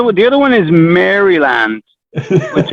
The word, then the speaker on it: Maryland: the other one is maryland which everyone in america says maryland maryland i don't even have the d and it's always funny